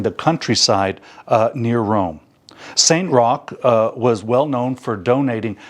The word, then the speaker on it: Roch: I want to tell you a story about Saint Roch, and that's pronounced Roch, but it's spelled R-O-C-H.